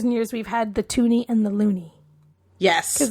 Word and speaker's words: toonie: a bird um and the toonie is just because it rhymes with looney and it's about yeah